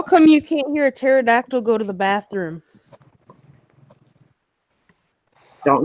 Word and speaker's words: pterodactyl: you can't hear a pterodactyl go to the bathroom don't know the P is silent mmm good that's a